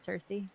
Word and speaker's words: Cersei: to me that's how you say her name cersei yes yes sir so so a note about